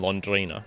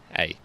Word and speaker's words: Londrina: He's a PT, so he knows all of these gyms, and he lives in Londrina. It's like, I'm mispronouncing that. It's Londrina. Okay.